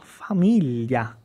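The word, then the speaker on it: famiglia: é muito parecido e e também família família que é o som de gli família GLI i a esses são os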